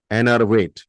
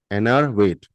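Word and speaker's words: enervate: एन अर वेट spelling E एन ई आर वी ए टी ई एनर वेट एनर वेट ये easy है थोड़ा बोलने में एनर वेट तो एनर्वेट मींस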